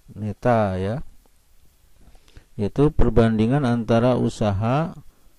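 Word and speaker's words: η: Bacanya neta ya.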